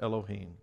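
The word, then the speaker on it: אֱלֹהִים: genesis 1 is the hebrew word elohim it's pronounced elohim elohim occurs 32 times in chapter 1.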